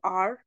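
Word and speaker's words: hour: But then जहां पे H silent होगा, कुछ वर्ड्स ऐसे होंगे जहां पे एच साइलेंट होगा, for example आर, honorary, here, honest, उनके साथ आप क्या यूज करोगे, आन यूज करोगे।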